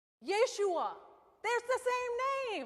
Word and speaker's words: Yeshua: Does anybody know how Jesus is pronounced in Hebrew? Yeshua.